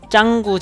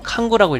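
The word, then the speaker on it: Canggu: 뜬지는 짱구 지역에 있습니다. 이 짱구가 인도네시아 애들이 짱구라고 부르고 영어 스펠링으로는 칸구라고 읽히는데 인도네시아에서 발음할 때는 짱구, 창구 이런 식으로 발음을 합니다.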